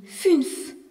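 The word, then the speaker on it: fünf: Le nombre 5 se dit funf avec un u avec un tronce u et non plus ou funf utrema f le nombre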